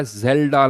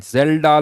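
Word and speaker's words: Kjeldahl: है Dumas method और दूसरा जेल्डा मेथड के silent जेल्डा method Dumas method में क्या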